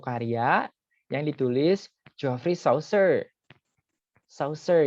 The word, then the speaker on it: Chaucer: Chaucer ya dibacanya. Ini nanti ada kemiripan dengan pembacaan Saussure.